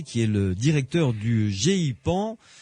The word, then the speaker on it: GEIPAN: Avec donc mon invité ce soir, Jacques Patenay, qui est le directeur du GEPAN. Pas facile à prononcer, G-E-I-P-A-N. On peut dire GEPAN, tout simplement. GEPAN, voilà, d'accord.